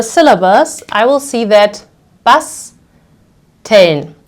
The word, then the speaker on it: basteln: I will see that basteln. So the first syllable ends on S, so I will pronounce it as a sharp S.